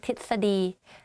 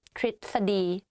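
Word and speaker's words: ทฤษฎี: correctly in daily life i just say tit study but it's wrong though so the correct way of pronouncing this is trit study let's practice again and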